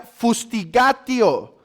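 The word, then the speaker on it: fustigatio: se llama fustiga tío una palabra latina que significa o que se pronuncia fustiga tío y que quiere decir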